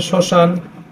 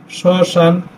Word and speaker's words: শ্মশান: ফলার উচ্চারণ হয় না শব্দের শুরুতে ম ফলার উচ্চারণ হয় না উদাহরণস্বরূপ যদি আমরা লিখি